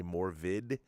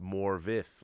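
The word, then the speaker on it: Morfydd: um morvid vid it looks like her name it's spelled m-o-r-f-y-d-d I'd say more vid but now to know it's pronounced more vif I like that what a cool name morvis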